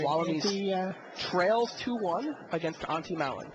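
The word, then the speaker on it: Antti Malin: it's actually, apparently it's Auntie Malin, but everyone just calls him Auntie. Really? Yes. That's funny. And he's pretty comfortable with that. It's more, Auntie's more of a nickname than the actual pronunciation.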